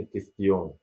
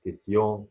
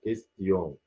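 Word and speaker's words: question: لكن لو جه قبل المجموعه دي حرف الت، حرف الاس، لو جه قبلها حرف الاس بنطقها تي عاديه، زي كلمه كيستيون، مش كيسيون، لا كيستيون، انطق التي هنا بقى تي عاديه.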